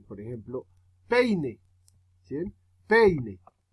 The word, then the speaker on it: peine: Peine. La fuerza está en la E. Peine. Ya uno hace P y el P y INE es más suave.